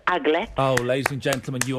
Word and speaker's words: aglet: Yeah, they're called I think it's pronounced aglet. Oh, ladies and gentlemen, you are Yes, Liz. It is the aglet.